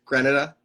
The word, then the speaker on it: Grenada: Grenada. Grenada, yeah. Grenada, okay, because I mispronounced it last week.